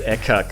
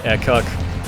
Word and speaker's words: Ekac: I'm going to refer to him as Ekac or Ekac anyway, even though it's reverse cake. Guess that's the way his name should be pronounced.